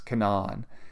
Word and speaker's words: Canaan: Uh uh it's not pronounced Canaan. The somebody local told me it's Cananan. Um it's not like the the biblical um pronunciation even though it's uh um spelled that way.